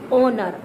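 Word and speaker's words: honour: We will always keep this sound on the silent mode of H. We will pronounce that word is starting of the vowel. H O N O U R, owner.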